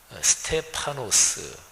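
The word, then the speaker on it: στέφανος: 입니다 이렇게 얘기하고 있습니다 이 면류관이 헬라 우도 스테파노 쓰 이렇게 발음이 되는데 스텝 앙 이라는 이름이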